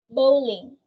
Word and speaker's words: bowling: Bowling. Bowling has a similar pronunciation with crow, as in bowling, while crown is similar to cow.